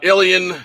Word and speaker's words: Ilion: gun factory in uh alien new york which is i l uh was it i i l i l o it's like a lion it's like you know it's actually how it's said but you look at